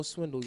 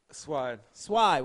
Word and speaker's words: Swide: saying, my man Swindle, y'all, let's give it up. Did I say it right? Swide. Why I say Swindle?